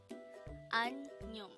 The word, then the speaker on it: 안녕: 안녕 could be divided into two syllables. 안녕. An is formed from the combination of the a and niun sound, while nyong is formed from the combination of the niun, yo, and iung sounds. An nyong.